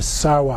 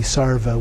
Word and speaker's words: sarva: in between there or in Sanskrit it would be sarva with a V but the Tibetans pronounced it with the W Sawa Rudra Sara holla